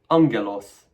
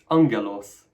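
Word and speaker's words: ἄγγελος: In all cases, the first gamma is pronounced at the back of your mouth as an ng sound. Let's do some pronunciation practice, having learned this. Look at this noun. Angelos, angelos, angelos, meaning messenger.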